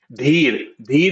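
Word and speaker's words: धीर: No, you pronounced d wrong. The was wrong. Dhir is to be patient.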